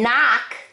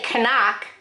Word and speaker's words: knock: k you don't say kanak you don't say knife you don't say knee you say knee knife knock okay now we're going